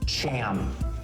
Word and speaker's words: Cham: Something has to end in cham. Cham rhymes with clam, Oh.